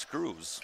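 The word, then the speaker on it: Schreurs: first one is missed so he spells his name sch-r-e-u RS shrewers is about how I'd guess but he said it's pronounced screws okay second free throw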